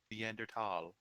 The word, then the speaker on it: Neanderthal: that in step two it's neanderthal the h is silent neanderthal there you go but